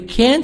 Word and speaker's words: can't: these statements notice how the t in can't and shouldn't is not strongly pronounced you can't go shopping